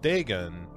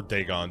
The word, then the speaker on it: Dagon: uh to talk about degen or dagon depending on you know if you're listening to uh brian yazda say it or stuart gordon because they pronounce it differently and it drives me